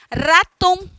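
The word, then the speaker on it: ratón: Raton, raton. E precisa tremer esse R todinho, precisa, porque é assim que é a pronúncia.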